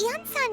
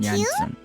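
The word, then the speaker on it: Iansan: Oh, is Ian-san here too? Jansen. I keep mispronouncing. her name every time. I keep forgetting the I's a Y, not a I.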